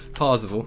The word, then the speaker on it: Parzival: I'm just gonna call him Z because the name just completely, the pronunciation of that name just dropped from me, even though I said it. Parzival, that's how it's said.